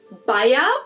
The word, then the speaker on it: Bayer: Now, that was the English pronunciation, but the correct German pronunciation would actually be Baya Baya Baya.